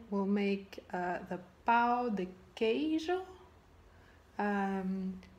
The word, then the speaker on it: pão de queijo: right will make uh the pow the Cajun um please correct me if I'm wrong hi Lisa my name is and the food is called Pao de cage let's make it and